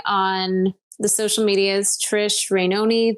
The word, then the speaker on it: Rainone: the social medias Trish rainoni that's not baloney but it rhymes with baloney and it's spelled rain